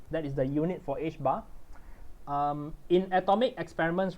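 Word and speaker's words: ħ: we often use this one instead we it's pronounced uh h bar people call it h bar and because we do h with a bar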